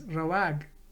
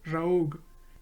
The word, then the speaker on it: rawag: For example, going means rawag, rawag or raog if you are from Karachi, because they pronounce their W as O.